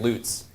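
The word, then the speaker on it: Lutts: Fun fact, Loots is the local pronunciation.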